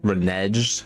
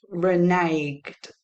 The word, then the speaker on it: reneged: million lawsuit over claims they reged. I I don't know if that's how it's pronounced. It's pronounced reneged, my friend.